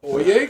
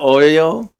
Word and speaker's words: Oye: Try pronouncing that one again, Brian. Yeah, Oye Como Va. Oyo? Isn't it Oyo? No. Oh, okay. I thought it was Oyo.